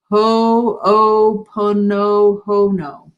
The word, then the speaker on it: Ho'oponopono: All right, and then Keith says, I think it's pronounced Ho'oponopono.